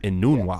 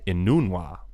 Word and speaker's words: Enunwa: That's how you pronounce it? Enunwa. Yes. Say it again? Enunwa.